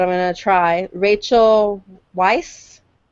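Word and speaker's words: Weisz: going to try Rachel viiss vice vice German there there's no V it's German okay it is pronounced Vice she's English but the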